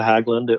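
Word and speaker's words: Hägglunds: we talk about snow machines or snow cats haggland hagland how do you pronounce that uh that's it it's a hagland so i actually own three of them but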